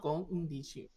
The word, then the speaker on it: konnichiwa: Konnichiwa is a quick end. It's not a long drag of the sound Mm. end. So instead of Konnichiwa. konnichiwa, yeah, it's konnichiwa. That's the difference.